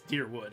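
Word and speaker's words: Dyrwood: So it's Deerwood. It's just spelled with a Y because whatever.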